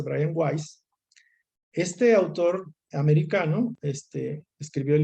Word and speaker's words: Weiss: Pero sí estoy leyendo un material de Brian Weiss, eh, Brian Weiss, se escribe Weiss, pero creo que se dice Brian Weiss.